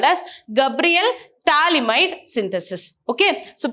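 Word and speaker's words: phthalimide: also called as Gabriel talide synthesis okay so P here is silent we call it as talide clear now the potassium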